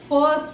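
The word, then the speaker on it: first: अब फर्स्ट में जो ये आई आया इसको हमने अ बोला है, फर्स्ट, अ।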